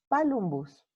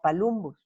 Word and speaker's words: palumbus: Como verán, la primera U, la vocal posterior alta, es breve. Entonces, en latín se tenía que haber pronunciado palumbus, no palumbus.